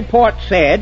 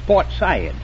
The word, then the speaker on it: Port Said: himalayas now yes and you don't say port said it's portside ah the wickedest city